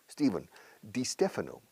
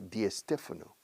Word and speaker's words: Di Stefano: Claro, porque aquí la gente pone una E delante de la ST, SP, SN, SL, cualquier S más consonante.